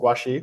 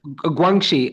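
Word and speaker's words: 关系: Is it Guaxi? Well, how do you say it? Guangxi.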